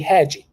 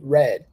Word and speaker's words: red: sometimes I've had students who confused uh the pronunciation for that so they say hedi the color we don't say color H but we say red it's super important that you learn to pronounce